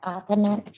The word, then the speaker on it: Aaman: Michigan versus am say it exactly your name ma'am aaman aaman I that exactly it's exactly how it's spelled anyway go ahead your